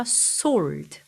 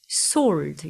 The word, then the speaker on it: sword: two edged sword 여기서 sword 발음할 때 W 발음 안 됩니다 그래서 sword sword 요렇게 발음하시는 입으로부터 came a sharp to